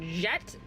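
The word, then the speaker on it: Jecht: Is this Jet? J E C HT. Jet.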